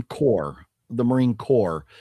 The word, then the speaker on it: Corps: Oh, but it says corp. The Green Lantern Corp. Core. It's like the Marine Corps.